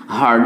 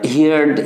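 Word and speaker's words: heard: যে অনেকে কিন্তু আমরা হিয়ার, হিয়ার্ড, হিয়ার্ড এরকমভাবে উচ্চারণ করি। যারা উচ্চারণ করেন তারা এখন মনে মনে হয়তো ভাবছেন যে হিয়ার, হিয়ার্ড, হিয়ার্ড, এটা তো আমিও বলি। আসলে হিয়ার, হিয়ার্ড, হিয়ার্ড নয়, হিয়ার, হার্ড, হার্ড।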